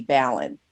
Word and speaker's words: Balin: I'm a lady person over here, and it's pronounced like Allen with a B, Ballin.